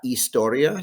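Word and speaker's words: historia: we have our subjects la istoria silent h la ciencia la matematica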